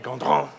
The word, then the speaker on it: Gondrand: In France, they pronounce it Gondrand, if there's any interest.